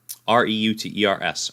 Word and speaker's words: Reuters: Reuters.